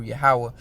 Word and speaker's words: Yahweh: In the Hebrew, Yahweh, all right, Shaphat, all right. Jeho, how they say Jehovah, all right, but his name is pronounced in the pure Hebrew, Yahweh.